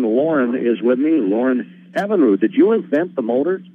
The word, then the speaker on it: Evinrude: Lauren Evinrude, did you invent the motor?